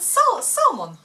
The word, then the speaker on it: salmon: So we call it salmon. So we had friends and they laughed at us so hard. all the time. And we learned the beauty of silent L.